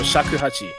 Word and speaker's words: shakuhachi: You can hear the, I'm going to pronounce this instrument completely wrong. I think it's a shakuhachi. Oh, shakuhachi, yeah.